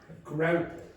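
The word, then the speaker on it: graupel: Grapple. Perfect pronunciation.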